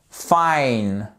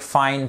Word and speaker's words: fine: Par exemple, like, time, fine. Ok? On dit pas fine, on dit pas time, on dit pas like. Donc like, fine, time.